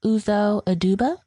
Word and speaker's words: Uzo Aduba: about Viola Davis no and how do you pronounce her name from oranges and new black uzo aduba something like that okay great they both were